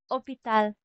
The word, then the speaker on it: hôpital: And hospital in French is hôpital. Hôpital. So, hindi natin binabanggit yung letter H, yung letter T.